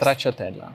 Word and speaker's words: Stracciatella: Stracciatella.